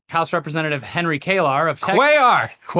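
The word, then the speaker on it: Cuellar: House Representative Henry Kar of Quayar. Quay. Yes. Henry Quayar. Quayarch. Quayark.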